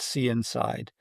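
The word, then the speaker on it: CNSide: diagnostic technology which is called see inside like you're seeing inside of something but it's spelled CNS D.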